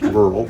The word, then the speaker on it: Burrell: Originally his family is from Scotland, and so what looks to be Burrell is pronounced Burrell, as in Scottish.